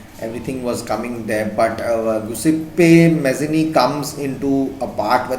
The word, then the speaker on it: Giuseppe Mazzini: It's pronounced as Giuseppe Mazzini, and he's from Italy, Italian.